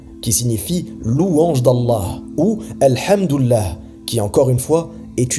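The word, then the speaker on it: الحمد لله: Ils disent par exemple « Hamdoullah », et ceci signifie, si on traduit mot à mot, le prolongement d'Allah.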